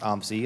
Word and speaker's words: OMSI: you're not from Portland you should learn that it's pronounced Tom Z I get funny looks when I say OMSI and there's gonna be